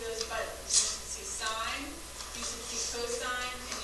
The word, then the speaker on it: sine: So sine, it looks like sin. It's spelled the same way, but we say sine.